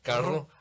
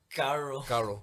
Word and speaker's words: carro: But whenever I would say carro, I can't say it now because I roll my R. Carro, I would say carro, Caro. Yeah, I remember that. but now I can say carro.